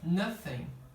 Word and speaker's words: nothing: Essa palavra aqui, eles acham que estão ouvindo, no lugar do TH, um F, nothing. Tá? Estão ouvindo nothing, mas não é nothing.